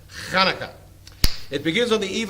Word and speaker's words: Hanukkah: Also spelled with an H or a CH, but it is the word, that's again, there's a note in there about the guttural, not ha, not Chanukah, not Hanukkah, Hanukkah.